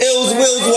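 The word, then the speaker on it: Illz Willz: So, it's Ills Wills. And that's Ill Will with two Z's. And it's spelled I-double-L-Z-W-I-double-L-Z.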